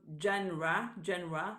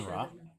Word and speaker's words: genre: For me, it's always a terrible boring to listen to just one genre, the pronunciation, Genre.